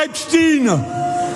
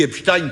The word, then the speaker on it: Epstein: Je dis Epstein parce que moi je dis Frankenstein, je ne dis pas Frankenstein, je ne dis pas Epstein.